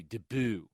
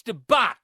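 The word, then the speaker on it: debut: Jessica maboy HG I'm tired of people pronouncing DBU T Deo it's debat fantastic This Is The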